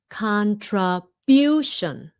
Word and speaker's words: contribution: The other big mistake many Vietnamese make is shun but they say sun. It's sh like quiet. Contra. Okay, son. Contribution.